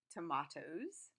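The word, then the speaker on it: tomatoes: yes you're absolutely right tomahtoes tell me that you have the British pronunciation I guess you've been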